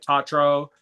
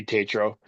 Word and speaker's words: Tetro: And I'm like the only guy that could pronounce Michael's last name. Tetro. Yes. Tetro. But people will read it and be like Tatro. Tatro. Like no. I would say Tetro.